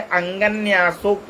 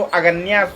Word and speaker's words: अंगन्यासोक्त: अब आप यहां लिखा है अंगन्यासोक्त मात्र बीजम साधक इसको अग्या मात्र बीज पढ़ने लगते हैं। अंग अंगन्यासोक्त मात्र बीज दिग्बंध देवता